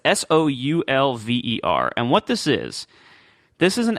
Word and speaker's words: Soulver: And I don't know if it's pronounced Solver. I say Solver in my head, but I also said Oxygen in my head, so my head's not always right, I guess. It's Solver. So it's Soulver.